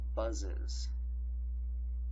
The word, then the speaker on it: buzzes: And our ES syllable will be pronounced is. So your plural will be pronounced buzzes. Buzzes. I am really saying is to you, telling you to pronounce it is.